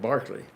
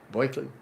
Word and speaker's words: Berkeley: You understand the English pronounce that Barclay. And you know how to pronounce it, the New Yorkers pronounce it, Berkeley.